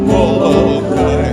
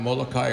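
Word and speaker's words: Molokaʻi: We pronounce it Molokai because it means churning waters.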